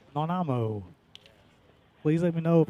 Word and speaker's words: Nanaimo: Nanaimo. Nanaimo.